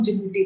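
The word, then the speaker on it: Djibouti: जिबूटी code of conduct, इसको spelling तो दजीबूटी है, मतलब ऐसे है ना, लेकिन जब इसको हम प्रोनाउंस करते हैं तो हम जिबूटी बोलते हैं।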